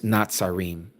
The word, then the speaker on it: Natsarim: The other word that we use is Natsarim. You may have heard it transliterated as Nazarene. It's Natsarim.